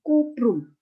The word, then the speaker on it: cuprum: Cuprum itu bacanya adalah kuprum. Kuprum.